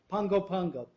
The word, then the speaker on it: Pago Pago: the tropical Medical Center in Pago Pago is that how you pronounce it Pongo Pongo Pongo Pongo they're actually two places or they just like that word so much they use it twice Pango Pango prior to that he